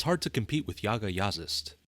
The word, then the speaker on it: Jaga Jazzist: hard to compete with Yaga yist and yes that is apparently how to pronounce their name being as they're from Norway over the band's nearly